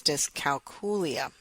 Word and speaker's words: dyscalculia: the way I first had my training in dyscalculia. Now, to be phonetically proper, the correct pronunciation is dyscalculia, and we did talk about that in the very first podcast.